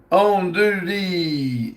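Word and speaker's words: andouille: Southern said it's pronounced on duty. It's Cajun sausage.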